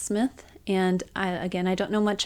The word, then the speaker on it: Smythe: I think it's pronounced Smith.